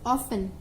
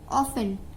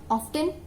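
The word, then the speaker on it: often: Next word is ऑफन। ऑफन, टी is silent, not ऑफ्टन, इट्स ऑफन।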